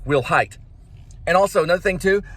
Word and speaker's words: Wilhite: said we'll have which sounds like will height and also another thing